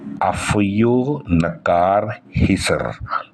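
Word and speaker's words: Afyonkarahisar: जो मुझे टर्की भाषा में प्रोनाउंसिएशन है, वो प्रोनाउंसिएशन होता है अफियो नकार हिसर।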